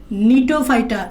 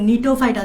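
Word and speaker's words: Gnetophyta: 9 দিয়ে আরেকটা বিভাগের নাম নিটোফাইটা। এখানে একটু দেখবা, এখানে জিটা উচ্চারণ হয় না, এখানে জিটা সাইলেন্ট থাকে। জিটা সাইলেন্ট থাকে, তাই এন দিয়ে উচ্চারণ করতে হবে। নিটোফাইটা, জিটা সাইলেন্ট থাকে।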